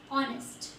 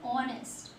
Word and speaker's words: honest: Now see children, some words which has a silent H. Okay, so yes, you see honest. We are not pronouncing this. Although we are spelling it, we are not pronouncing it. We are saying honest.